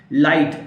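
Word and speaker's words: light: लाइट, LIGST, जी को पढ़ने की जरूरत नहीं, यहां पे ड्रॉप करना है, लाइट।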